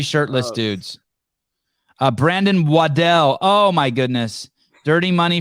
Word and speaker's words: Waddell: Hey, how would you pronounce his name? Brandon. But his last name? Waddell. Oh, I used to call him Waddle.